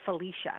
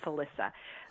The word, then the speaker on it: Felissa: I'll become friends with he called me Felicia with Felicia Rose it's pronounced Alissa but he would say